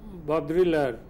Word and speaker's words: Baudrillard: Another French philosopher in the same period was Baudrillard, B-A-U-D-R-I-L-L-A-R-D. Again, D will be silent.